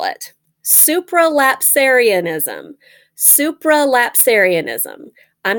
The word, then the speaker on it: supralapsarianism: spells kind of like, it is spelled kind of like it's pronounced. Supra, S-U-P-R-A, lap, L-A-P, Sarian, S-A-R-I-A-N, ism, I-S-M, supralapsarianism. So there's also an infralapsarianism, which is the same as supralapsarianism in spelling, but it starts with I-N-F-R-A.